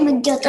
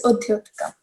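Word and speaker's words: उद्योतकम्: like to the next word, and then we pronounce it with like combinedly, Mudyotika, instead of just Udyotika. Yeah. Is it Udyotakam or Mudyotakam? Okay, it's Udyotakam.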